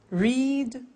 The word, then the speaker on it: read: Read, read. Notice that. Now, read and read are written exactly the same, but the pronunciation changes in the past tense.